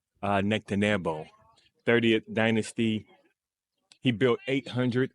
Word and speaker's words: Nectanebo: One is that name is pronounced Nectanebo, 30th dynasty.